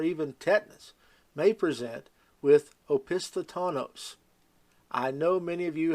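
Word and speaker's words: opisthotonos: with meningitis or even tetanus may present with opisthatanos I know many of you have not heard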